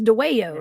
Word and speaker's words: Dwayyo: Cundiff's show on the Dwayyos. How do you pronounce this? Dwayyo, right? Dwayyo. I think of that song from Beetlejuice.